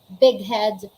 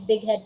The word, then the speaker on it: big head: to back letters makata if that's the case we pronounce them separately we say dog house big head fog fogborn all right take note doghouse big head fuckboy now i want